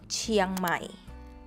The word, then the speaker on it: เชียงใหม่: Give It a try เชียงใหม่ เชียงใหม่ The Chiang is Just One syllable So Don't Break it down Just ST Chiang เชียง